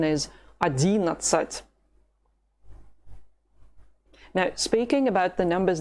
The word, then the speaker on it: одиннадцать: Pay attention to the stress. It's not 11, neither 11. No, Russian people are not going to understand it. The correct pronunciation is 11.